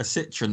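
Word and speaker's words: Citroën: A Citroen, mate.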